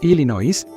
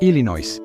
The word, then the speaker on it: Illinois: En lugar de pronunciarlo como Illinois, lo pronunciaron como Illinois, aunque eso tampoco es realmente inglés y ni